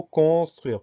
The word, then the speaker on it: construire: Première syllabe, con, C-O-N, tout va bien. Deuxième syllabe, on peut dire que dans la première syllabe, on va mettre le S aussi, cons, C-O-N-S. Deuxième syllabe, truire, même deuxième et troisième syllabe, truire, T-R-U-I-R-E. Au final, dans ce mot, on entend toutes les lettres, sauf le E de la fin qui est un E muet.